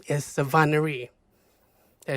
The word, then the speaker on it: Savannahry: She's Khmer American, and her name is Sovahnnary.